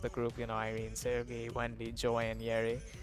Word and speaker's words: Seulgi: I could not say the name Seulgi for the life of me for like a month before like she gave me a video of how to pronounce Seulgi. I genuinely could not say her name. I used to say Luigi. That's not a joke. That's actually something I would say. Girls, to be honest, I have a problem.